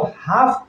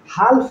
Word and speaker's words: half: के बाद एफ है, इसलिए इस एल का उच्चारण नहीं होगा। इसको हाफ पढ़ेंगे, हाल्फ नहीं पढ़ेंगे, और इस हाफ का मतलब होता है आधा।